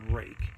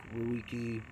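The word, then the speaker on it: Ruike: this one is a rake. The way it's spelled is R-U-I-K-E. It sounds like rook, ruiki, but it's pronounced rake. From everything I've read and understand, it is pronounced rake.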